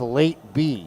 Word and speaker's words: Lateb: sounding see the guy says he says it's pronounced late be now it's not about like what late be